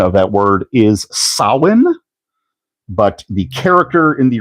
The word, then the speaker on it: Samhain: And yes, the correct pronunciation of that word is Sin, but the character in the real Ghostbusters universe, his name is pronounced Sam Hayne.